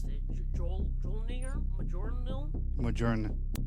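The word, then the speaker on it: Mjölnir: I don't know how to pronounce it. Jolnir? Majornil? Majorn, like Majorn's hammer. Mjolnir? Yeah, Mjolnir.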